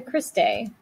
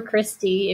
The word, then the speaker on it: cristae: going to occur in the cristae or christie if you'd rather say it like that as far as your